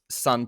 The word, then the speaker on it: Sunn: Today we are talking none other than sun or yeah sun o parenthesis but um sun pronounced eternity's pillars backed with